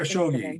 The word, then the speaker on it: Khashoggi: And then some other Khashoggi.